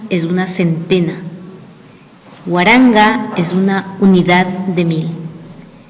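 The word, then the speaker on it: waranka: Asimismo, para poder escribir y pronunciar números a partir de 1000, el número 1000 se dice Waranga. Waranga.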